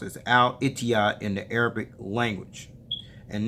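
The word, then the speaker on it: الاتحاد: in Arabic right here and ETI is actually pronounced as al-itiya in the Arabic language and next to the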